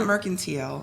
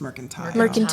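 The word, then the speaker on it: Myrtle: world renown merile yeah not merkal it's mertile thank you yeah thank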